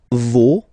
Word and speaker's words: vos: for the plural, no, vos, and then leur. Okay, so remember, even if you've got this final S, you don't pronounce it, as it was